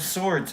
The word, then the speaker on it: swords: the night of swords do you pronounce the W in swords now you're all saying a word I made you all say a word in your head that's me manipulative Knights of swords and then this is